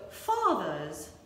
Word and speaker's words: fathers: also ladies and gentlemen do we pronounce the r in fathers fathers and mothers nope we don't pronounce the r so fathers mothers you got it